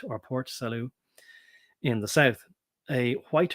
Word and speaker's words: Port Salut: And that's salute, as in like saying hi or raising your arm in a military way to salute. So Port Salut or Port Salut in the south.